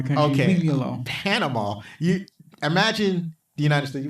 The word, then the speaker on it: Panama: It's it's 6 letters, 3 syllables. You mess it up like people mess up my name. Anyway, not my fault. and all the vowels are the same.